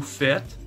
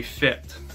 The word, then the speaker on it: fait: Alors, comme vous pouvez le voir, aux trois premières personnes singuliers, on prononce la forme conjuguée fait. Même si ça s'écrit F-A-I-S et F-A-I-T. On ne prononce pas fesse et fête.